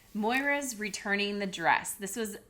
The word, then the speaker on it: Moira: Rose, all this stuff is collapsing in front of them, and Moira, I said it right.